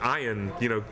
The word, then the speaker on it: Ian: I thought it was just like about watching Ian, find creative kills for sharks.